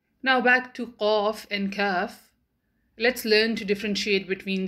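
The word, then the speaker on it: كاف: Similarly, when the deepest part of the tongue touches the hard palate of the mouth, then kaf is pronounced.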